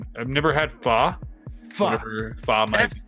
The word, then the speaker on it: pho: And it's funny because it's spelled like pho, like PHO. You would think pho, but it's actually pronounced pho.